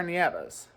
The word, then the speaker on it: Nieves: Now, legally, it's pronounced Nieves.